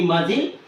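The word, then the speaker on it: muscle: T is silent mail m u s c l e muil c is silent letter next Wednesday here w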